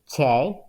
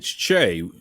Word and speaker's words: Chae: Well, my Korean name is Chae, but when we came to the States when